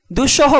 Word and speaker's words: দুঃসহ: বর্ণের উচ্চারণ দৃত্ত হবে দুঃসহ বানানের মধ্যখানে বিসর্গ থাকায় পরবর্তী দন্তস এর পরিবর্তে উচ্চারণে আমরা দুটি তালব্যস লিখেছি অর্থাৎ দৃত্ত করেছি নিঃসঙ্গ বানানে বিসর্গ থাকায়